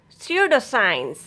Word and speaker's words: pseudoscience: Rule of silent letter P is if a words begin with PS or PN, then letter P will be silent. Pseudoscience, psychiatrist, psychology, psychotherapy, psychologist, pseudo, psychic, psychotic, pneumonia.